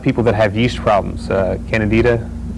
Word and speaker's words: Candida: Candida, is that correct pronunciation of that? Yeah.